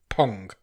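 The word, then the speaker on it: Phang: Pong. It is Pong because it says on her IMDb that it's pronounced Pong.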